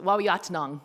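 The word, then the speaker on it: Waawiyaataanong: other pronunciations um mostly W yat Nang is how you say Detroit where the uh curved Waters meet that's on a nishnabe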